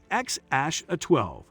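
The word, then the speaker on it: X Æ A-12: they welcomed baby boy XAEA12 in 2020, pronounced as XASH12.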